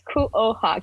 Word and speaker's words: Kuoha: If you just pronounce it, it's Kuoha, Kuoha. So Kuoha.